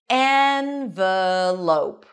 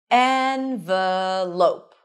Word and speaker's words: envelope: How would you say this word? The first pronunciation is envelope. Envelope. The second is as in father, envelope. As in red, as in father.